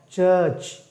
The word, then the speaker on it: church: Then you have chair, church. Okay, church. Church. R of course silent.